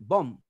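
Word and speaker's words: bomb: बॉम्ब नहीं बोलेंगे, बॉम्ब। डेब्ट नहीं बोलेंगे, डेट, DET। यानी बी को साइलेंट कर लो।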